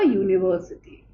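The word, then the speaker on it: university: क्योंकि this you जब हम प्रोनाउंस कर रहे हैं। This is long you. Okay? So वी put only a यूनिवर्सिटी। ठीक है?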